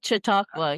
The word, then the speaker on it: Chautauqua: Yes, Chautauqua? Chautauqua, yeah.